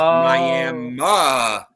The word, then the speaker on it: Miami: is a Miami Oklahoma it is just pronounced Mi Oklahoma even though it is WR it is spelled the same way because people on Oklahoma